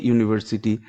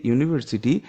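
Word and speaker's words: university: ইউজ a before consonant sounds, example A book, a ইউনিভার্সিটি starts with you but sounds like Y. মানে এই যে ইউনিভার্সিটি, এই ইউ, এই সাউন্ডটা ইউ এর মতো অর্থাৎ ওয়াই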